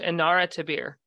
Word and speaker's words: Inara Tabir: by the way welcome thank you so much andara tabir a Tabitha do I pronounce it right perfect with a little bit